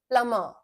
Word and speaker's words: plumber: Hindi, प्लमर, like this, plumber. Okay, this is the most commonly mispronounced word, plumber, जो मिस्त्री आपके घर